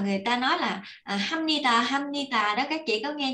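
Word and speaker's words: 합니다: ta nói là hamnita hamnita đó, các chị có nghe nhiều không? Nhưng mà có nhiều người thì phát âm là hamnida, có nhiều người thì phát âm hamnita, nhưng mà em thấy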